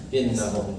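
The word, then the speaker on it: إنهم: Yang kedua contohnya ala innahum humul mufsidun. Ala innahum, di sini bacanya wajib dibaca innahum.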